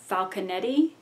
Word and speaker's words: Falconetti: The actress who portrays Joan of Arc is Renee Jean Falconetti, is how I think her name is pronounced, and it's sort of a landmark movie.